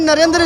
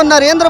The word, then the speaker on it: नरेंद्र: दे रहे हैं जो नरेंद्र बाबू है अपना ना नरेंद्र को नरेंद्रा क्यों नहीं बोलते हैं जब विदेश में जाते